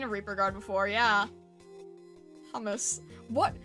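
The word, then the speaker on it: Humus: Hummus. What? How would you end up picking that name? La Pluma, thank you. Is it, wait, how do you say hummus? Is it pronounced like the food?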